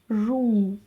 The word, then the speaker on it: Жуыну: Жуыну, жуыну. Ничего сложного нет. Просто помним о том, что буква «ы» читается очень и очень кратко, твердо и кратко.